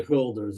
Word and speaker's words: Hölder's: All right, so now we can get to Holder's inequality, discrete Holder's inequality. really Hölder's inequality. That's how you pronounce it in German.